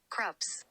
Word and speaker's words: Krups: Krups.